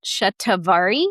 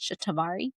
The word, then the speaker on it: shatavari: We pronounce it shatavari here in the west, shatavari.